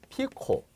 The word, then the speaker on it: 피코: 이걸 PC라고 읽으면 안 돼요. 이걸 PC가 아니라 이걸 뭐라고 그래? 피코. 피코 쿨롱이라 읽습니다.